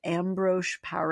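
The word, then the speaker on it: Ambroise Paré: It was called ambro par.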